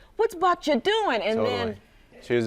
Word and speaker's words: Babcia: Babcia.